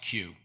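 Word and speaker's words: Keough: say okay everybody does it's pronounced q and uh i am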